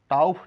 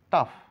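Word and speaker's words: tough: ও এর সাউন্ড নেই টাউফ না টাফ ও এর কোন সাউন্ড নেই তাহলে এরপরে নেক্সটে জানতে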